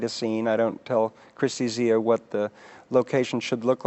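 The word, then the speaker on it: Kristi Zea: Is that how you pronounce it? Tak Fujimoto and Christy Zia, yeah.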